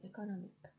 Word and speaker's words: economic: Economy to economic. Base economy, stress on con. Derive economic, stress on nom.